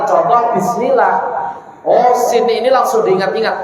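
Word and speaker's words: بسم الله: Nah, nanti di dalam tatbiknya, di dalam prakteknya pengucapan contoh bismillah. Oh, sin ini langsung diingat-ingat. Oh, mengalir. Berarti ketika bismillah dialirkan dong sinnya.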